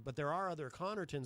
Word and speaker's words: Connarton: well sort of because it's pronounced Connerton so the most common misspelling of my last name is Co N and E rton people replace me with an E because it sounds like that and actually there are